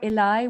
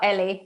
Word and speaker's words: Ellie: live good morning ellie do we pronounce ellie or eli what do you prefer oh ellie well my full name